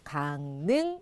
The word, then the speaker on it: 강릉: 되어 있습니다 강 어때요 이응 뒤에 리을이 나와서 니은으로 발음합니다 강릉 이렇게 발음하죠 자 그